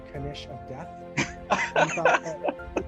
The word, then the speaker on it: knish: it like everyone's like oh do i pronounce the k do i not let's set let's put it to rest it's kanish and it's a jewish potato